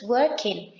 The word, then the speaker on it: working: I am working, he is talking, you are revising. And as you see, pay attention to the G at the end. It's not pronounced. It's not working, but it's working.